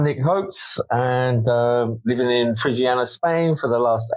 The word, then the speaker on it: Frigiliana: I'm here in beautiful Frigiliana. How do you say it? How do you say that? Frigiliana.